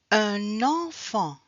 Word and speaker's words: un enfant: words with en en un enfant un enfant on fait la liaison. On a le son N. So we have to do the link with the N.